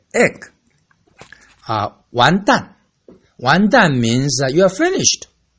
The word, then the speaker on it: 完蛋: Wonton is pronounced differently from 完蛋. 完蛋. How? Okay. All the curses I mentioned this time are all ending the fourth tone. Very sharp. 完蛋.